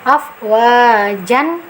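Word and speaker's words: أفواجا: 2 harokat Kenapa aslinya kan tulisannya AF wajan nah nah tetapi kita bacanya afwaja Kenapa karena Mad iwad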